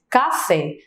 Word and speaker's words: café: Fé é a sílaba que eu falo com mais intensidade. Se a gente canta, por exemplo, essa palavra, que é uma dica que eu costumo dar, se a gente canta essa palavra, a gente vai perceber que a sílaba tônica ela vai se arrastar um pouco mais. Então, se a gente canta café, o fé, ele se arrasta mais, perdão.